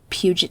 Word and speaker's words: Puget: So, after graduating from Woodrow Wilson High School in 1965, Bundy attended the University of Puget Sound, or Puget Sound, I've heard it pronounced both ways, for 1 year before transferring to the University of Washington to study Chinese.